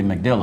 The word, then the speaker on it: MacDill: That's the way you pronounce it, right? Yep. MacDill? MacDill. That's what you I pronounce. believe it could be McDill as well.